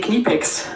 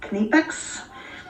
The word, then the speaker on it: Knipex: need answers as of it's definitely knee pics that's all that's on the Sun direct we'd like you to know that the debate remains raging strong uh Jenny Palin agrees with you kanipex but my friend April landman and her husband Felix say thanks instead of E so I'm wondering could